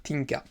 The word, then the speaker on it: Tinka: Tinka, mais il paraît qu'il faut dire Tinka.